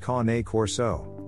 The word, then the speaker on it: Cane Corso: The Cane Corso, pronounced Cane Corso, is becoming more popular as more people are choosing to guard and protect dog breeds for themselves and their families.